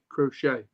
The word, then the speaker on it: Crochet: cro crochet how do you say his name crochet crochet yeah well apparently the white socks are re